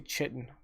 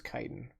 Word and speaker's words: chitin: my youth but I didn't know how to pronounce things I always say chitin it is chitin I used to repress it that way up